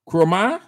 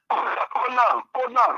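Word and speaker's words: Konah: My name is Kona from Bomikante. Yeah, Kona from Bomikante. Well, pronounce it well. Yeah. Yeah. what? Kona. K-O-N-D-H. Kroma? Kona.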